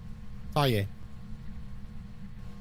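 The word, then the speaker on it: Thaye: Tay. That's how you pronounce it. Tay.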